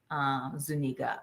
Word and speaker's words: Zuniga: Zuniga. I mispronounced his name before.